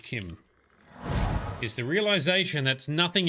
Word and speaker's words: CHIM: And I like one of their theories because in achieving apotheosis, ascending, achieving what is known as Kim, or Chim, CH, I think it's pronounced Kim, is the realization that